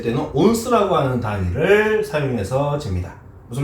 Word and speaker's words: 온스: 발음이 오즈 막 이럴 것 같지, 그치? 전혀 그렇지 않아. 자, 이거는 발음이 뭐냐면요. 한글로 적게 온스라고 있습니다. 온스.